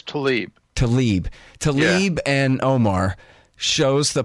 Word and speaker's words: Tlaib: Political upheaval over, is it Tlaib? Is that how you say it? I don't watch TV. She says Tlaib.